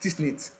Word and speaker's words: TSNIT: It is pronounced TSNIT, but it means temporal, superior, nasal, temporal map.